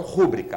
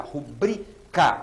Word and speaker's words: rubrica: Sílaba tônica, esse si. Necropsia. Rubrica e não rúbrica. Rubrica.